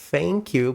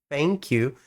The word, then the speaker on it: thank you: Então, é bem comum a pessoa falar thank you, perceba, thank you, com um som de fluxo de ar, mas com os dentes.